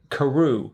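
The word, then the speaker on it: Carew: Karu. Karu. Karu. Yeah. And you knew how to spell it.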